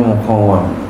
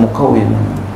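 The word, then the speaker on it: مقوّم: Wazani asyara yang ke-12 al-muqawwam, namanya muqawwam bifatil wawi, dengan fathah waw wa kasr kasranya. Banyak orang bacanya muqawwim. Nah, kita baca muqawwam ya, duluan nih bifatil wawi.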